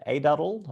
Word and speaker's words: Aduddell: of the ouachita county medical center and chad a dotted market ceo for chi saint vincent chad i